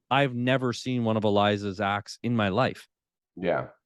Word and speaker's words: Eliza: know certain comedians that are big like like Eliza that's that's how you pronounce her first name correct Eliza Schlesinger yeah yeah she's huge is she not